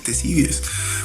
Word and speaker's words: Ctesibius: Sí, curioso, Nicolás, que se escriba con K, pero pues se lee Ctesibius.